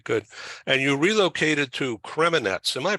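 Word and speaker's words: Kremenets: yeah yeah okay good and you relocated to creminets am I pronouncing that right yes it's just fine they'll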